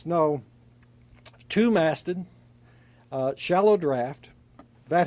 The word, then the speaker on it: snow: a snow or snau but it's pronounced snow two masted shallow draft